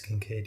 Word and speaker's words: Kincaid: Khalil Shakir, Dalton Kincaid. I don't know if that's how you say his name. I always forget. It is Kincaid.